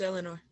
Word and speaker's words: Eleanor: other end okay so eleanor you think that there's am i butchering your name no you got it are you being polite no it's eleanor nothing is silent or anything right really no are